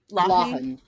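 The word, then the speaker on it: Lawhon: Lahun.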